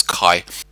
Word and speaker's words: kaya: And kaya is often truncated to one syllable in spoken Latropeth and comes out as kai.